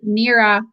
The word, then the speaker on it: NEARA: So in one of the NERA journals, NERA is spelled NEARA. It's an acronym.